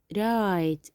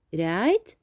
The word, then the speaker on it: write: We have write, يكتب. write لفظت حرف ال R، لكن ال W رح تضل عندي silent. ال W silent. So again, this is right.